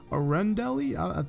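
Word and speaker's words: Arendelle: toys San fransokyo Monstropolis One Hundred Acre Woods Arend Elliot that's how you pronounce that rating garden Disney Castle and DP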